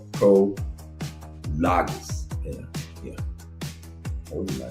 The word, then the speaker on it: Prologis: Also, and Prolongis is or Prologis.